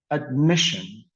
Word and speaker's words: admission: On the second syllable, we have the word admission. Admission. So the stress was on the second syllable.